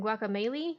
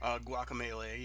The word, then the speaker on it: Guacamelee: they got rest from Psychonauts uh Juan from guacamole I think is that how you say it guacamelee yeah lover moo lovers in a dangerous space-time